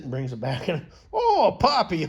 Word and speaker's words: Poppi: And Poppy. Okay, you were pronouncing that right.